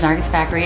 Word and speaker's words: Nargis Fakhri: So, my name is Nargis Fakhri, and I'm a human.